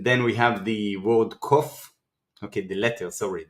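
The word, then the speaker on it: ק: So, and then we have the word kof.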